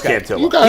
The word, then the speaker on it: Cantillo: I'm saying I'm saying it wrong it is cantillo he guys he's looked great his last couple